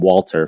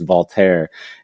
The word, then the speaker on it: Walter: is that remember Remy we were all calling him Walter forever but then it's voler and then if you